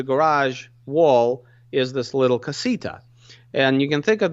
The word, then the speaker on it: casita: suite and the Southwest I'll probably you know mispronounce it so they call it cassis t'as is that true casita okay but in the labor rich household you